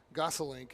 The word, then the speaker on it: Gossalink: Gossalink is how you pronounce it.